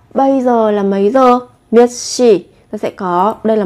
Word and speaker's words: 몇 시: Các bạn khi mà vị trí phát âm chờ, phụ âm chờ theo sau là phụ âm sờ, thì các bạn sẽ đọc gấp đôi phụ âm sờ lên.